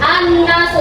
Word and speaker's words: an-nasu: An-nasu. Bacanya al-nasu atau an-nasu? An-nasu. Langsung masuk ke huruf yang ada tasydid.